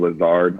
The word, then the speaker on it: Lazard: of people have mispronounced my last name several times calling me lizards i've always kind of